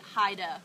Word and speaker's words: Heyde: you can actually say Haida which is more of along the lines of the German pronunciation that's probably the actual